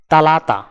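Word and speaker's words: ثلاثة: আরবি ক্রমিক সংখ্যা 3 দেখতে এরকম, উচ্চারণ হবে তালাতা।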